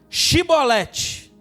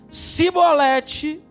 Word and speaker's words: Shibolete: Se respondesse que não, diziam: então diga Shibolete. Se ele dissesse Sibolete, sem conseguir pronunciar corretamente a palavra, prendiam-no e matavam-no nos vales do Jordão.